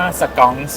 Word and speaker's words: SKONX: ว่า ยัง ไง ค่ะ ร้าน เรา จริง ๆ ชื่อ ว่า สกอง ครับ สอง perfumery ก็ skx ค่ะ ตาม นี้ เลย มา จาก อะไร คะ คำ ว่า สกอง เรา ผัน เรา ผัน